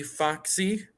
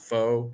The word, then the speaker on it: Fox: on twitter at d foxy yes that is how you say my last name faux fox it's not faux it's very confusing i